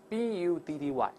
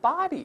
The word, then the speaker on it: buddy: 们儿，伙计你好啊，B U D D Y 叫做 buddy，但注意好多人把它读成 body 就难听了啊。